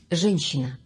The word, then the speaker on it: Женщина: Женщина. John Cena. Женщина. Maybe I can remember it like that.